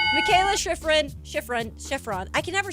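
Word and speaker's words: Shiffrin: I love Michaela Chevron. We It is not Chevron.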